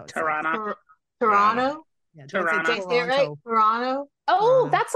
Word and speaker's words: Toronto: flight from here to Toronto oh and that's how you say it you say Toronto you just kind of like slur it all together that's how it toron Toronto toron Toronto oh